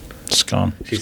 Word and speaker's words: scone: Scone.